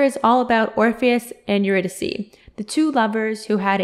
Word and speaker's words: Eurydice: When you do give it a little read, keep in mind that he says to pronounce Eurydice as you're a dice so that the rhyming makes more sense.